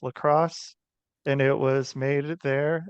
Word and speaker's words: LaCroix: The that people pronounce LaCroix, but it's lacrosse, and it was made there.